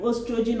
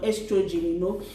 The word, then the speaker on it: oestrogen: The English and the British people pronounce it different ways. It can be oestrogen or estrogen, and this hormone is very important.